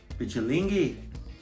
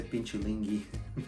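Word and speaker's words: Pichilingue: Pichulingi. Yeah, I said it right. She keeps trying to say Pinchulingi.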